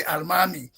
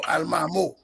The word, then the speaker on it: Almamy: So the African pronunciation, they will say Almami or Almamo, but it comes from the Arabic Okay.